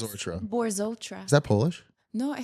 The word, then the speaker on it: Borzotra: Borotra. Just how it looks. Borotra.